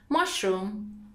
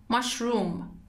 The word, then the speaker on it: mushroom: که هر دو درسته You can either say mushroom or mushroom Once again, mushroom هم میتونید اوی کوتاه بگید هم کشیده mushroom The next word is